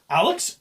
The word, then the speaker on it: Alyx: Alex? Okay, that's how you pronounce that. It's ALYX. Yeah, Alyx.